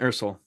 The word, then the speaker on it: Ursel: say your last name for me is ursul Ursel um he's gonna tell us a